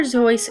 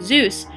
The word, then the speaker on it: Seuss: Seuss, but most Americans pronounce his name Zeus instead of Seuss like his German ancestry, and that is how Ted Geisel became the man we know today as Dr.